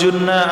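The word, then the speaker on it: جُنَّ: Falawtadah jikalau murtad ia seseorang au junna atau gila ia seseorang. Junna yang bermakna gila itu pasti bina majuhul bacanya.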